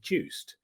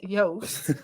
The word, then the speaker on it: Joost: me and then see my Dutch first name Joost always call me Juiced. So well, it's pronounced as Joost.